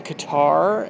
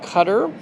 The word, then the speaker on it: Qatar: returned home from Doha cutter I have been I think inaccurately saying Qatar and I've said that so much that it kind of got ingrained in my head but it is properly pronounced cutter and if you are